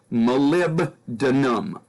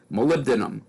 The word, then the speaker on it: molybdenum: know that's a hard one for people to pronounce molybdenum molybdenum molybdenum and the phosphorus is a phosphide so